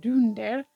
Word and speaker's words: Dunder: the last two reindeer were named Dunder actually pronounced Dunder and Blum which are the Dutch words for